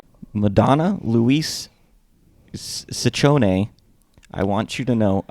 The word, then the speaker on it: Ciccone: This is the correct way. All the other ways are not good. It is Ciccone.